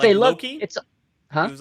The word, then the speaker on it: loci: Larry, the method of Loki is a very famous memory trick from cognitive psychology.